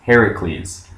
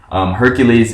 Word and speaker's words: Heracles: um well not correct the correct pronunciation because if you find the stories of him the earliest ones have it written heracles anyways um and i'm